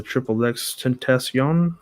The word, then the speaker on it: XXXTentacion: It's the Triple X Tentacion.